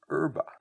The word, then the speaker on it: herb: The H was silent because the French don't pronounce the H in front of a lot of the words. The English adopted that word, and for many years, they also dropped the H and called it herb.